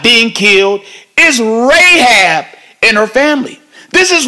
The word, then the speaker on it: Rahab: not getting knocked off is Rahab which rhymes with aab and her family those